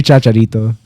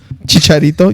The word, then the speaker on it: Chicharito: Um, let's get back to He's going to say Chacharito. Chicharito. You said it wrong first off, but uh does he he doesn't play no more.